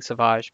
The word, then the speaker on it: Savage: like doing the pronunciations he's so Savage Opress to me but I've been converted to saying Sauvage but fine Sabine rent